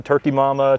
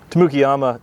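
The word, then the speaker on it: Tamukeyama: People often say Turkey Mama, Tamukiyama, Tamukaduke, but it really is just an amazing plant. I guess I've watched you guys enough that I know how to pronounce a lot of these. So yeah. The Tamukiyama, the name translates as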